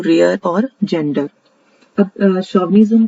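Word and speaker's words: chauvinism: Next है, इसकी जो प्रोनाउंसिएशन है वो है शोविनिज्म। यहाँ पे शोविनिज्म बनेगा, ये जैसे दिखने में चार लग रहा है लेकिन इसकी प्रोनाउंसिएशन है शोविनिज्म।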